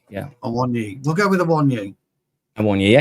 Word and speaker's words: Awoniyi: I don't know how even to pronounce this guy's name. Ivoni. Awoniyi. Yeah. Awoniyi.